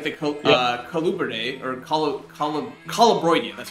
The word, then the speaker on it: Colubroidea: are rear fang snakes, like the Colubridae, or Colubroidea, that's how you pronounce it.